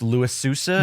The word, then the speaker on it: Louis Sousa: was the show with Louis Sousa, if I'm pronouncing that correct. Yes, correctly.